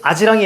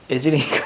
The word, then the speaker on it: 아지랑이: 아비, 애비, 아지랑이, 애지랑이. 애지랑이가 아니고 아지랑이. 이거 뭐죠? 이모음, 역행동화는 비표준어라고 그랬어.